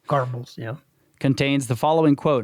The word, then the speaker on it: Goebbels: Goebbels, yeah.